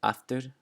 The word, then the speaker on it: aftur: All right, the next rule, when it sounds like the letter F, is before the letters K, S, and T. So I have some examples here. The word aftur, aftur, which means again, ofsa, ofsa, and oft, oft.